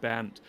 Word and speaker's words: Bernd: Well, my first name is pronounced Bernd. So, and when you speak English, so it is when you try to say the word burned, like the third form of to burn, it is slightly the same, but it is